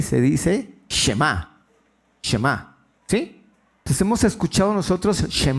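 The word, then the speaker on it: שמע: palabra de Oye o escucha en hebreo se pronuncia y se dice shem shem hemos escuchado nosotros shem no el shem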